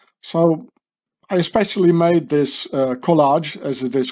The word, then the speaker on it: collage: to speak a color in France it's called collage in English it's been pronounced College like in America the college you know that that probably glue